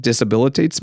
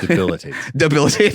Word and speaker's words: debilitate: That disabilitates me. Is that the right word? Debilitates.